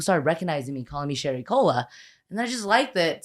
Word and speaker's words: Sherry Cola: Sherry Cola Areola. That's what I'm really proud of, that it rhymes with areola.